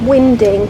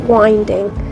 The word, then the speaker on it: winding: boat around it's pronounced winding not winding and it's so named because the wind can be used to help the boat to turn sometimes like today though